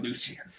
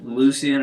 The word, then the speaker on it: Lucian: That Lucian. Which is another thing. Like, I know it's a small thing, but like in Lucian, I'm like, you got the hard C and the soft C.